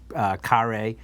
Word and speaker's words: Kare: This rosé comes from the winery Bodega Kare, although it's it's spelled care, but it's Kare.